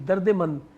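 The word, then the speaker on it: دردمند: ज़ेर की दर्द मंद दर्द मंद कोई लफज़ नहीं है बेटा। दर्दमंद है।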